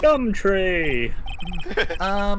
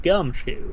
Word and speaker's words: Gumshoe: Gumtree! Suede shoes, wasn't it? That's me. Don't step on my blue suede shoes. Wait, That's a song, pal. My name's Gumshoe.